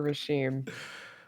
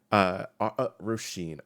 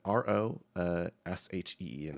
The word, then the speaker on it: Rosheen: Plopping down on a beanbag near Rashim. Rosheen, Rosheen is the pronunciation.